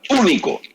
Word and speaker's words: único: hermanos es único y vamos a ponerle el acento en la u único no es Comparado con